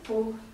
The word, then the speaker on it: Pau: Oui, Pau avec un P. Alors, Pau. Comme ça s'écrit, pareil.